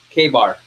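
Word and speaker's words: KA-BAR: So it's pronounced K-bar.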